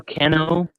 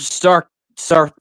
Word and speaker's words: Sarino: stuff Hello star Keno hello Tony Stark No it's sarino Saro my last name